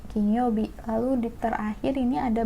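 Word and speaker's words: 金曜日: Jumat tuh hari duit PH King Youbi yang dibacanya kinyoubi kinyoubi lalu di terakhir ini ada bentuk gunungnya gunung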